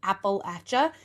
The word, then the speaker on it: Appalachia: But people from Appalachia, which is where I'm from, and that's also how you say it correctly, Appalachia. If you don't get it right, I'll throw in Appalachia. That's how you can remember.